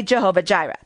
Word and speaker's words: Jehovah Jireh: Now in Hebrew it's probably pronounced something more like Yehovah Yireh, but we pronounce it in the American way, Jehovah Jireh.